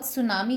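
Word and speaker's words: tsunami: Now word सुनामी कहाँ से आया? वर्ड सुनामी आया जापानीज लैंग्वेज से। सु, टी साइलेंट होता है, सु मतलब हार्बर और नामी मतलब वेव।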